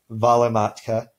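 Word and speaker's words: välimatka: a word that way for example in Finnish they have the word for donkey ah si and the word for butterfly pear Honan and the word for distance volley matka where each of those first syllables is stressed because in Finnish this dress is always on the first syllable of a word so in Finnish if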